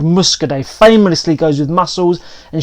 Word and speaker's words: Muscadet: a wine called Muscadet Muscadet silent T on the end speaking of silent T's